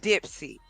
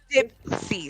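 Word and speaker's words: Dipsea: The website is called Dipsy. Can you pull it up for me? What is it called? It's dip c.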